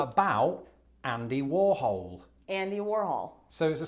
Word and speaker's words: Warhol: during a play Warhol. about Andy Warhol.